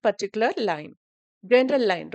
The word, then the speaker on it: lien: Actually, when I refer in a Google, they pronounced as line. So all of a sudden எனக்கு லீன் வந்துச்சு.